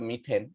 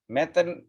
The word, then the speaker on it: মিথেন: যেমন এখানে একটা কার্বন আছে, তাইলে এই মিথের সাথে এন যোগ করে আমরা মিথেন, এই যে দেখছো METH, মিথ, এটা উচ্চারণটা আমরা পড়বো মিথ, ম্যাথ না, মেথেন বলবো না, আমরা বলবো মিথেন।